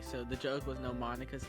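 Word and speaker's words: Monika: Monica notes that's not how you say her name. You're supposed to pronounce it Monica and not Monica. Monica.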